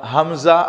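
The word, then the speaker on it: همزة: এই জন্যে এখানে আমরা হামজা আলাদা কোনো অক্ষর আমরা লিখি নাই, তবে এর উচ্চারণটা হবে হামজা, হামজা, হামজা।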